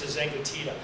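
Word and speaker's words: de Zengotita: People like Sherry Turkle, Nicholas Carr, Douglas Rushkoff, and I have to say the name, Thomas DeZengatita, because it took me so long to learn how to say it.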